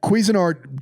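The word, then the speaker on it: Cuisinart: No, it's Quezin Art. Quezin Art. Why? Cuisine is spelled different.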